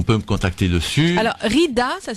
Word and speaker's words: Ridha: Alors Rida, ça s'écrit R-I-D-H-A, plus loin.